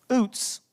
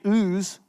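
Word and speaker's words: Uz: where job is from OOTS that's how you would pronounce it if we were reading Hebrew OOTS but that's not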